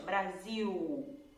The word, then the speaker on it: Brasil: Brasil. A gente faz um som de U.